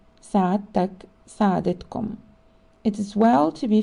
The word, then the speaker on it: سعادتكم: If the person addressed is of much higher rank, the word سعادتك or سعادتكم should be used and pronounced سعادتك سعادتكم.